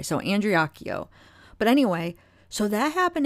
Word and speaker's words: Andreacchio: I know I keep saying his name wrong. I think it's Andreacchio. I think that's how you say it, because I heard the mother say it that way. So Andreacchio.